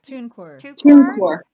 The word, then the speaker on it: TuneCore: Pronounce this for me, Suze. Is it TuneCore? TuneCore.